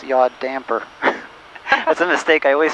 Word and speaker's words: yaw damper: I I say yaw dampener a lot, but it's not really how it's pronounced. It's yaw damper.